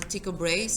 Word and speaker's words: Tycho Brahe: by the name of Tycho Brahe he okay that's how you put on a ticker brace and people might pronounce it that way but he had data